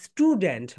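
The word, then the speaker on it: student: আম 7, অ্যান্ড আম স্টুডেন্ট, বলো আম স্টুডেন্ট। অনেকে এখানে ঠু, ঠু হবে না, এখানে টা হবে। কেন হবে, এস এর পরে যদি টি আসে তার উচ্চারণ টি হয়।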